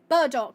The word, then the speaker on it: burdock: Paddock root. I don't think we've got that. We've got crimson roots and warped roots, but no Paddock, unfortunately. Burdock.